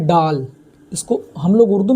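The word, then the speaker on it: ڈال: अब इसी तरह दाल के बाद आता है डाल, इसको हम लोग उर्दू में डाल बोलेंगे, लेकिन अगर हिंदी जानना हो तो डाल का ड होता है।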